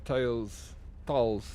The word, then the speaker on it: taal: I can speak both tales deliciously. It's feeding day now. Yeah, you prefer English too? English is number one. Language in Afrikaans is taal, pronounced tale.